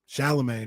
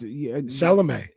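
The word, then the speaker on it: Chalamet: Shamagne. Ain't that how you say his name? Oh, the little actor dude. No, it's Shalomé.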